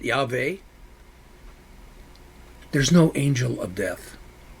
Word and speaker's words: Yahweh: I pronounce it Yahweh.